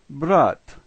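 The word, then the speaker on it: брат: The first letter in this word reminds me of the letter B, and it is pronounced as our B sound. The second letter is R, and it's pronounced like our R. The last two letters are just like ours, and so this word is brat, brat.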